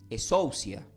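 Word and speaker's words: ἐξουσία: palabra autoridad del griego se puede escribir como exousia o se puede pronunci como escia pero es e s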